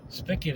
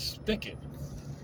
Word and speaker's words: spicket: And I was like, no, that's spicket is spicket. apparently it is that's the way it's said in parts of the Northeast, which is where I'm basically from.